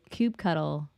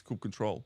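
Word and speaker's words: kubectl: so if you do Cube cuddle or cube CTL or finalize however you pronounce it yeah so no we're pronouncing this Coupe control like um finalizer I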